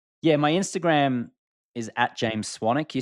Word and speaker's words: Swanwick: my Instagram is James swanic you spell my last name s SW n w k so it's spelled swanwick pronounced with a silent W swanic you can send me